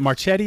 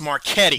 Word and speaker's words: Marchetti: marchette is it mars is it marchetti is that how you pronounce it close almost marquette marketing sorry it's a hard c well that uh so